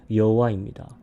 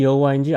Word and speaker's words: 여호와: 모세에게 주셔서 밝히신 이름 여호와입니다. 더러는 야훼라고 하기도 합니다. 우리가 야훼인지 여호와인지 알 수 없는 이유가 성경에서 히브리어의 모음이 원래 없었기 때문입니다. 그래서 그 발음의 차이가 있었고 유추할 수밖에 없었던 것입니다.